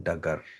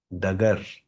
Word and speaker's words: डगर: इसके सुनसान नगर अनजान डगर सबको ही कोई ना कोई पंथ बनाना पड़ गया। बुद्ध ने भी बना दिया। नानक ने भी बना दिया। पंथ रास्ता डगर जिसकी प्रोनाउंसिएशन हम डागर कर देते हैं।